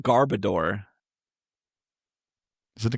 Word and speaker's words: Garbodor: But I remember I remember always saying Garbodor back when that came out because I didn't realize just the final word is just odor.